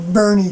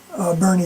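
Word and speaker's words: Boerne: in Warren, Texas, or Bernie, Texas, I think is the way the proper way to say it, Bernie, Texas.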